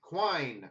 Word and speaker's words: Quine: How do you pronounce that? Alan Quinn? Quine. Quine.